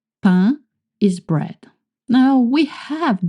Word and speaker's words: pain: En français, in French, when you see the cluster AIN, like in saint, you make the sound un, pain, saint, un.